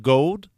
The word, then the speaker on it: Gould: But according to the bassist Billy Gould, I think is how that's pronounced, the Gould, he seems to be like Billy the Gould, band yeah.